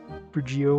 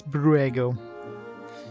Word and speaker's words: Brugio: Brugio, whatever. It's Bruego. It's a different language that doesn't exist on Earth. That's how it's pronounced.